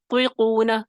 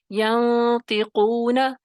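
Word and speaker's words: ينطقون: ینطقون، پیچھے سے زبان کی جڑ کو اٹھائیں گے لیکن چوتھے درجے میں تخفیم کرنی ہے، پہلے درجے میں نہیں. طیقون یہ غلط ہوگا. ینطقون यंतिकून, पीछे से जबान की जड़ उठेगी तो इसमें तफखीम पैदा हो जाएगी।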